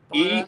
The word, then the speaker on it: Enagbare: Igubana or Igubara. Enagbare. I can spell it because I'm a writer.